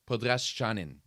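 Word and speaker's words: Podraščanin: Podraschanin. That's how you're supposed to pronounce it. That is apparently the good pronunciation for Podraschanin.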